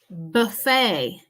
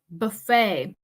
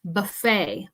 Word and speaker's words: buffet: So we don't pronounce the T at the end of this word. Buffet, buffet.